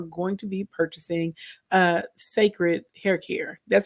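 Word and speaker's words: Cécred: you guys are going to be purchasing a sacred hair care that's how you pronounce it if you're wondering I saw a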